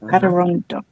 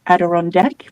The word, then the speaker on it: Adirondack: Okay, Adirondack. Because I keep thinking it's a chair on a deck, so call it Adirondack, but it's Adirondack.